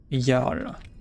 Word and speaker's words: Jarl: À prononcer avec un Y alors que ça s'écrit avec un J.